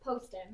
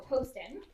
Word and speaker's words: Poston: She was born in Los Angeles just like a Alice spent the war years in Post Poston. That's how you pronounce that concentration camp. Okay. So, Poston.